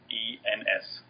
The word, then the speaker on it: Goossens: And it's spelled a little weird, but it's Goossens.